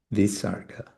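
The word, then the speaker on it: visarga: So the H with a dot under it. It will also be pronounced differently according to different um different traditions, but it generally seems to be like a repetition of the previous um the previous uh syllable, the previous ashara.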